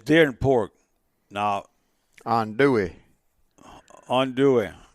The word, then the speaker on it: andouille: Andouille. How you say? I call it andouille. It's andouille. That's the Mississippi phonics way of pronouncing andouille.